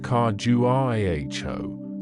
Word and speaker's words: Khajuraho: The grandeur of Khajuraho, pronounced Khajuraho, slowly receded behind them,